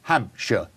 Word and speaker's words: Hampshire: upset is is say Hampshire notice notice I said sure at the end in the UK we pronounce it sure so it's Hampshire okay Dorset sure not